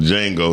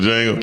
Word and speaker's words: Django: Jackson on the Django. He did. On Django, I said the Django. Let's make him. The D is silent. Not really.